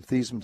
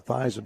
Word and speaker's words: Theismann: think by just simply changing the pronunciation of your last name from Thiesman to Theismann to rhyme with Heisman, we can get you that trophy."